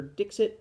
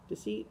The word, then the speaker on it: Dixit: The guy at the game store seems to think it was Dixit, and it's spelled Dixit. But I had kind of thought that like it was French, and so maybe it's supposed to be Deceit, and I don't know.